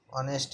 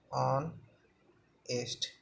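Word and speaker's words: honest: क्या ऑनेस्ट पढ़ते तो इसको ऑनेस्ट है ऑन एस्ट क्यों क्योंकि एच इसमें साइलेंट होता है तो ये तो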